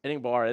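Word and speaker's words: Enagbare: Enigbar. Eniggare.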